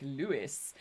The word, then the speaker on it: Louis: most people pronounce it Louis but the inner just circles say it like Lewis anyway very very famous